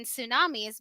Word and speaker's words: tsunami: there a tea in tsunamis because well title is the word for tidal wave in Japanese but it's pronounced SU tsunami not me so what are you